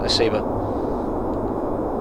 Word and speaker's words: SEBA: SEBA, am I pronouncing that right? Yes, SEBA.